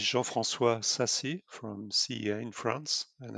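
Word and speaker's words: Jean-François Sassi: be jean frances sussy i've definitely mispronounced that but i will just give you uh the chance and opportunity to introduce yourself now yeah actually no problem beatrice it's quite difficult to pronounce so my name is jean francois sassy from cea in france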